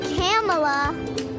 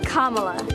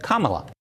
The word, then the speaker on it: Kamala: it's not cam it's kamla kamla Harris well senator says she's used to people mispronouncing her name but says it's easy to remember just combine Kama with LA and you get Kamala that was 2016 and